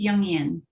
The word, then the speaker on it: Jungian: a the founder of Envision feminine leadership a jungian life coach did I pronounce that right it's yungan see I should have asked you first oh